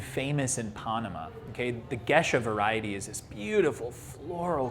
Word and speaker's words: Gesha: revolutionary that pushed everything was the gesha okay often mispronounced geisha and it is not a compare a comparison to the japanese term it is actually uh